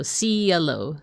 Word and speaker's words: Cielo: So even though your name is spelled with a C, it makes the S sound, right? Like the soft C sound, so Cielo.